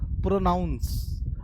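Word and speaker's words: pronounce: नाउन आता है तो आपको उच्चारण करना है इसको प्रोनाउंस इसको उच्चारण करना है इसमें देखिए नाउन नहीं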